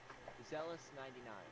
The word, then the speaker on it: Xelous: My Twitch is Zealous99. Zealous99. So, Zealous spelled with an X.